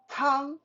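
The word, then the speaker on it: 汤: two three four e uh that's number one tang t-o-n-g means soup you're mandarin you do not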